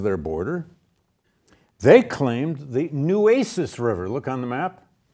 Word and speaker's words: Nueces: this Civil War class, I mispronounced Nueces. And I must have had 30 emails from Texans. (audience laughing) "Dude, it ain't called Nuces." And they're right. Nueces.